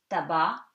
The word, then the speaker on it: tabac: And C is silent at the end of the word in these words. For example, you have these examples: tabac, tobacco, porc, the pig, estomac, stomach, franc, sincere, blanc, white.